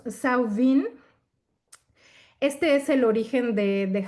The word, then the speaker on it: Samhain: Nuevo Celta, en donde se llama Samhain o Samhain, o sea, depende de el lenguaje, ¿no? Si es de Galia o si es más británico, pero es como lo pronuncian ellos, Samhain.